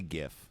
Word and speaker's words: GIF: __ ] right it's I say GIF of course it's GIF the guy who invented it calls it a gif it's just no one